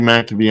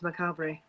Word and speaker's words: macabre: name macabre oh my god i called you mac to be i'm sorry it's okay i guess it could